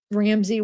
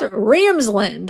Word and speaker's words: Ramsland: It is Ramsland. I did say it wrong. It's supposed to be Ramsland.